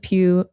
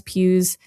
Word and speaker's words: Pugh: Okay, we have to talk about the the curious case of the faked Florence Pugh Botox photos.